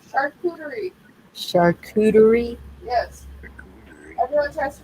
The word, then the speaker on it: charcuterie: Charcuterie. Charcuterie. Yes. Everyone tries to pronounce it a coochie board.